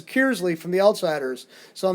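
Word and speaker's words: Kearsley: immediately when somebody's from an outsider because it's cursely the natives pronounce it it's kiersley from the outsiders so i mean i don't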